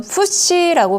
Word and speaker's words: FTSE: 이건 FTSE라고 발음을 합니다.